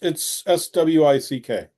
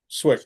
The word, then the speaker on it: Cwik: Is it Cwik? It's Swick is how you pronounce it. Swick.